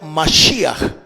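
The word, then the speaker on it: משיח: Se escribe o se pronuncia en hebreo Mashiach.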